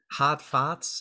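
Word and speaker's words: Hatfahts: Hotfoths. It's spelled H-A-T-F-A-H-T-S.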